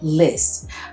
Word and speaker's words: Liis: house and it is I think you pronounce it list because it's l i i s and I've heard many